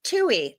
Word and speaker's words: Twohy: It's Tui. Like a two and an E.